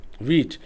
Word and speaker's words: Vite: वीट। लेकिन इसको स्पेलेल किया जाए तो वी आई टी है। वाइट कह सकते हैं। लेकिन प्रोनाउंसिएशन इसकी नॉर्मली जो हम लेते हैं वो वीट की लेते हैं।